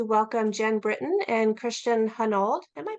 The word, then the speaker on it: Hunold: And today I am very excited to welcome Jen Britton and Christian Hunold. Am I pronouncing that correctly, Christian?